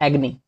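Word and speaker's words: agony: एग्नी, एग्नी इसको अगोनी काफी लोग प्रोनाउंशिएट करते हैं जो कि गलत है, एग्नी।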